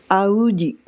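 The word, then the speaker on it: Audi: जैसे BMW की जगह BMW, पोर्शे, मर्सिडीज को मैक्सिडिस, ऑडी, आउडी।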